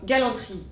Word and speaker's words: galanterie: Et des mots comme galanterie et hôtellerie devront toujours se prononcer entièrement et compteront toujours comme quatre syllabes.